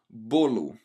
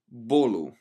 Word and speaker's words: bolo: And our last noun for the day is the word for cake, which is pronounced as bolo. Bolo in Portuguese, and it's a masculine noun.